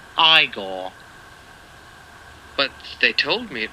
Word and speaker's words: Igor: movies and his interpretation of igor now it's pronounced igor but they told me it was eagle well they were wrong then weren't they for